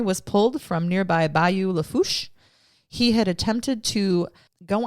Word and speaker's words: Lafourche: Lafourche.